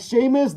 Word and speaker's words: Sheamus: Apple says, his name is Seamus, but it's spelled different. It's spelled, okay, Seamus. I get you now. Like the wrestler, like Sheamus, the Irish wrestler from WWE or whatever, Raw or whatever it's called again. Sheamus, the wrestler.